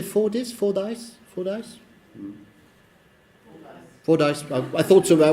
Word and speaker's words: Fordyce: Fordyce.